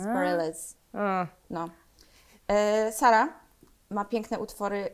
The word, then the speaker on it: Bareilles: To się tak wymawia. Zawsze mówiłam Bareilles, ale to jest nieprawda. Ja myślałam, że Barei. No właśnie, nie, bo to jest francuskie, ale z amerykańską wymową, więc Bareilles.